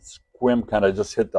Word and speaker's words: Sequim: some of you some of us don't it's pronounced squim squim kind of just hit the I the S